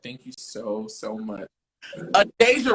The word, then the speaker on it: Adejah: Adejah, right? Yes, you said it right. One of my ex-best friends, her name is Adejah, so yeah. Yeah. That is literally just Deja with the A.